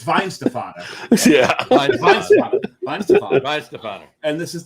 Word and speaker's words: Weihenstephaner: Oh, Weizenfahner. Weihenstephaner. It's the second syllable that'll get you. The second one. And the thing is, the key is to gloss over it. It's Weihenstephaner.